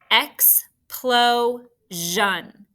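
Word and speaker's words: explosion: you have to see x plo zhan what makes that jean sound that we've been learning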